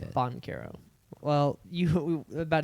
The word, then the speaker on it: Banchero: I can't roll my Rs, otherwise I would.